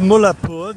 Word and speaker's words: Mullanpur: Anyway, I'm walking out of Mullanpur. This is Mullanpur, which is spelt Mullanpur, but they don't pronounce the N.